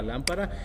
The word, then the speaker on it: lámpara: que es la palabra lámpara y la sílaba que más se pronuncia más fuerte es lam porque ahí lleva la tilde y así es como